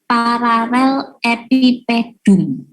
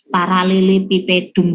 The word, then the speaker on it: paralelepipedum: Nah, benda yang seperti ini kita sebut sebagai paralel epipedum. Jadi kalau bacanya ini kan susah gitu ya, paralelepipedum gitu. Tapi ini bacanya sebenarnya adalah paralel epipedum.